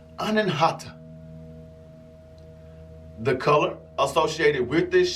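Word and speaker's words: Anahata: is the heart chakra the sanskrit word is pronounced anenhata the color associated with this chakra is going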